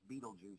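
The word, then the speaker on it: Betelgeuse: The spelling is different. It's not spelled Beetlejuice. It's spelled Bella Guise or something. Yeah. But yeah, we say it as Beetlejuice here in the States, but it's because we're American.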